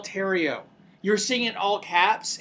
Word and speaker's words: Theriot: know what's funny uh so my name is tario but it's french so it's spelled the riot t-h-e-r-i-o-t um i guess you